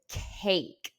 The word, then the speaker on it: cake: You will see that there in this word cake, the vowel sound A is long. It's not cake or anything like that. It is cake with no E sound at the end.